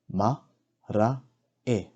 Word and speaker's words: marae: Ma, ra, e. Marae.